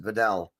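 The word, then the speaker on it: Vidal: I just heard the announcer say it, so at least finally I know how to pronounce it. Videll.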